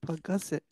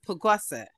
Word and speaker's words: pagasa: can I just say we've been saying puset you're saying pagasa teach us to say it correctly uh pagasa p p pagasa yeah uhuh yeah so